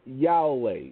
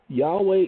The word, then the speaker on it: Yahweh: the world began okay Yahweh is the Hebrew pronunciation because there is no J sound in Hebrew that's why it's hallu